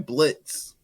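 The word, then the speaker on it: Blitzø: call up my man Blitz no o and we gonna get silent exactly we don't have to tell the people the O is silent because we killed the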